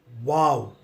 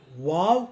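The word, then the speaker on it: واو: One is that it can be pronounced the way we pronounce W O W, wow. And it can also be pronounced as V A W, wow. Both the pronunciations are acceptable.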